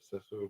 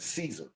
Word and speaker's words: Cesare: He, in their language, in the Spaniard, you would pronounce it Cesare. Yeah, Cesare. But in, I guess, the King's English, they pronounce it Caesar Borgia. But it's Cesare Borgia in Spaniard, because that's what he was, right?